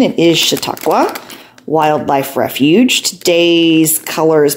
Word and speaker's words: Chautauqua: All right, and day 15, I checked my pronunciation. It is Chautauqua Wildlife Refuge.